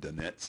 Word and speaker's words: Dunnett's: It's called the Dinet's test, sometimes pronounced Dinet's test.